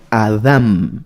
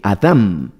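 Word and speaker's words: אדם: en la pronunciación sería adam así con un acento en la segunda y con m adam adam ese sería precisamente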